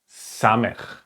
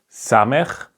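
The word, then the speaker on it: Samekh: so the circle is Sameer Sameer it's pronounced like s okay for example in the word so it's just a simple s okay so this is called Samir the next consonant is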